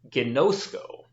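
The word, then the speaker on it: γινώσκω: bit more of an idea of how to pronounce Greek verbs here so the first one is Guinness Co y'know schoo and ghanoush go means I know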